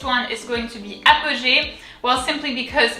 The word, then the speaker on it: Apogée: The first syllable is going to be apo, very simple, apo, kind of simple, same in English. APOGÉE. And then here, as you can see, there are 2 E's. The first one has an accent. It's an accent aigu and it's pronounced E.